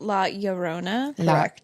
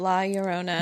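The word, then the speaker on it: La Llorona: Or and I think it's pronounced La Yurona. Yon Laurona. Yeah, it's the double L. Um, La Yona.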